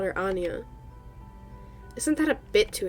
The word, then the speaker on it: Anya: Wait, I've been saying it wrong this whole time. It's Anya. Oh my gosh. Jeez. They were referring to the lighthouse as Anya, weren't they? Not Anaya.